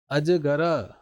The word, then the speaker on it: अजगर: कैसे ये कैसे रात अजगर गर क्या अजगर अजगर ऐसे नहीं छोड़ सकते अजगर यह तो क्या